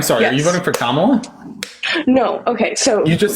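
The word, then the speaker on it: Kamala: to educate me um sorry KLA is that how you pronounce her name her name is kamla okay perfect um I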